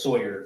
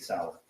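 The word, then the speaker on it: Sauer: mentions the sick sour he mispronounced sour as Sawyer which if you purchased that firem and it was for yourself you'd be familiar with how to say Sig Sal okay and would I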